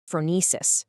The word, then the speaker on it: phronesis: Phronesis. It's a Greek word pronounced phronesis, and it's usually translated as practical wisdom.